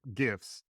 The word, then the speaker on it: GIF: Just because I try to speak in GIFs. And apparently it is a hard G. So a correction from a previous episode, the G is hard for some reason.